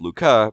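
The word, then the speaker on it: Lucas: the luca lamer test it's pronounced luca because he was french the luca lamer test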